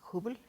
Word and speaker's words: Hubble: ¿Tú trabajaste en el telescopio de Hubble? ¿Así Sí, se pronuncia? sí, Hubble. Bueno, Hubble. le dicen Hubble en Sí. inglés.